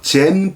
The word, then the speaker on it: 젠: 그래서 선불교를 영어로 젠 부디즘이라고 합니다. 이 젠이 선의 일본어 발음입니다.